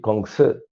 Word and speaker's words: Kongzi: Confucianismo viene de Confucio. Chino se dice Kongzi.